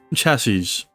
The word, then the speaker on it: chassis: chassis is also chassis however the plural is pronounced with with a zed at the end as tassis uh or chassis a chassis is the